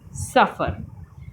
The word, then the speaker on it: सफ़र: बाजार, अखबार, ज़मीन, अंग्रेज़ी, सफ़र।